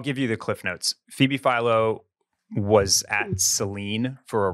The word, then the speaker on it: Phoebe Philo: It's Phoebe Philo.